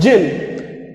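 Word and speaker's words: Djinn: Now after that, there's a new character introduced in this chapter called Jinn. Its spell is D-G-I-N, but we are going to pronunciate as Jinn, right?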